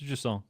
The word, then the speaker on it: Jusant: How's best to pronounce Jusant? It's Jusant, yeah.